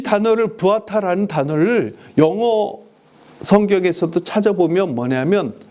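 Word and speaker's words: ועתה: 예, 부아타라고 우리는 읽는 것은 제가 독일 쪽에서 유학하신 분에게 제가 이 히브리어를 배웠기 때문에 부아타라고 이렇게 발음합니다. 그런데 영어권에서 히브리어를 배우신 분은 뭐냐면 웨아타라고 이렇게 발음을 합니다. 왜 이렇게 해서 발음이 약간 다릅니다.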